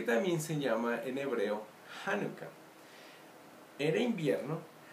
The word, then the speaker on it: Hanukkah: Hanukkah, que se puede escribir así, o Hanukkah como se pronuncia en español, Hanukkah.